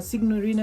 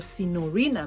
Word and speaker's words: Signorina: i have been talking about uh signorina mysteriosa or sinorina mysteriosa because the g is silent uh by salvatore ferragamo